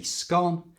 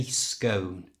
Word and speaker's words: scone: this word is pronounced some like me say scone and others say scone it really doesn't matter